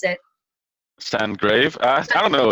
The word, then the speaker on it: Sandgrav: Sandgrave. I don't know. It's a Danish last name, so I mean I don't really think that it's meant for international pronunciation. No. So it's Sand and Grave. So yeah, it's Right.